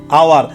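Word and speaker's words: hour: We need dash আওয়ার, আওয়ার এখানে হাওয়ার না, এটা উচ্চারণ হবে আওয়ার। কি উচ্চারণ হবে বলে দেখি? আওয়ার।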